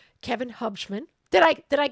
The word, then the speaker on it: Hubschmann: All right, so we have an awesome guest today, Kevin Hubman. Did I Did I pronounce it right?